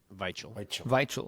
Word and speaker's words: Weichel: Daniel Weichel. Weichel with the V.